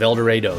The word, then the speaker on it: El Dorado: I even set the film in my hometown of El Dorado. Yes, that's how we Kansans pronounce it, making the plot about